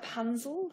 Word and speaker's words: Punzel: And you became aware of that through correspondence you received from Father Punzel, I think you pronounce it. Yes, that's correct.